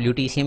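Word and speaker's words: Lutetium: वैसे ल्यूटिटियम स्पेलिंग होती है, लेकिन आप ल्यूटीशियम याद रखना।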